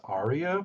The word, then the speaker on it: Arya: and at the time they didn't realize her name was Arya because all of the characters say it different because they have accents oh boy that's pretty